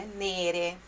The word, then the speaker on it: nere: assim, di sere nere, então ele dá entonação na última sílaba, né? Nere, mas é nere, tá bom?